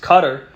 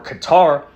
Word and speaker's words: Qatar: is the country of I believe pronounced cutter or Qatar out there in the